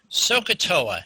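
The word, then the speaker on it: SOH CAH TOA: down and then i'm going to explain it sohcahtoa is how that is pronounced and it is mnemonic and it helps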